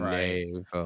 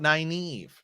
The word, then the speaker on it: Nynaeve: Nynaeve. Some people don't even like that we call it Nynaeve. It's not. It's but that's how they say it in the show.